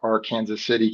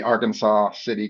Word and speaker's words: Arkansas City: My dad pastored in a little town called R Kansas City, Kansas. Uh for you, it'd be Arkansas City, Kansas since you're from Arkansas.